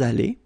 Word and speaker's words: allés: Nous sommes allés. You don't pronounce it.